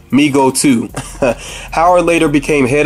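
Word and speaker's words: Mego: to overwhelming demand uh Meo oh it's pronounced Migo okay I'm glad I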